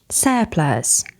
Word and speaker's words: surplus: Nine, surplus. Mind the pronunciation, not surplus or surplus. Surplus.